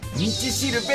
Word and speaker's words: 五稜星: いやまさかさ、五稜星って書いて道しるべって読むとは思わなかったね。